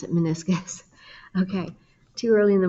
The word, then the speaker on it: meniscus: you spell it but but that's how you pronounce it meniscus okay too early in the morning to be